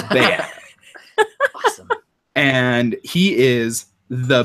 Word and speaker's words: Beat: His name's Bayat, and his name's spelled like beat, B-E-A-T, but it's Bayat.